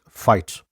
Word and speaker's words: White: man named Andrew white in the local dialect pronounced fight and they would have